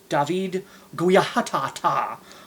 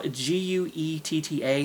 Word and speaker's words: Guetta: Becky Hill and Ella, um, David Guiatata. Like, I don't know, no, Guetta. He's kind of like a, techno dance house guy, I guess you would say. Um, Daddy. David Guetta.